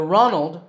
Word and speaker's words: Ronald: is Ronald McDonald the Ronald rhymes with Donald another fast food company